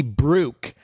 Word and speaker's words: Brooke: Brooke is with an E. She utilizes the silent E in the word Brooke. It's common. It happens. She has a bashful E in her name.